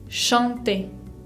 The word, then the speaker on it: chanter: Chanter. Ven que acá tenemos una nasal, A con N, chanter. Bien, tienen que sentir que el aire sale por la nariz.